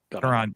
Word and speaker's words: Caron: And it does have a Gene Kelly connection because Miss Caron, is that how you say it? Caron.